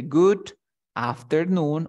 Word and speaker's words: good afternoon: Mira, se encuentra entre una O y una D. Entonces, quiere decir que esta D se va a pronunciar como si fuera una R. Entonces se dice good afternoon or Good afternoon.